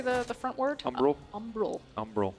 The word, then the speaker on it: Umbral: Umbral. Umbral. Umbral. I always want to say umbrage like Harry Potter.